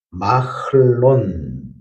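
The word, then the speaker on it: מַחְלוֹן: 말론이라는 말은 원래 마흘론, 그래서 병약, 질병으로 몸이 약하던 사람이라는 뜻을 가지고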